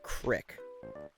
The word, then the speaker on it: creek: don't know uh but they pronounce it creek obviously down south i think it's the south they call it crick and i know people around here uh that also used to call it a crick but it's weird to